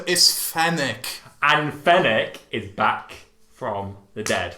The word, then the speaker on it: Fennec: say her name wrong fenric fennec fennec fennick like the desert fox yes well pathetic yeah